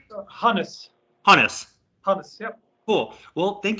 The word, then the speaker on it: Hannes: um it's a so is that you pronounce it correctly harness harness yep cool well thank you so much